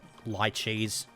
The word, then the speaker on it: lychee: i got here leech lychees gotta remember that's pronounced lychee and some salax okay